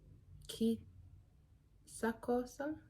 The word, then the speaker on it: chissà: Explains that if a C is next to an I, it's going to have a soft sound, like chi. But if the C is next to a H, it will take a hard sound, which is k.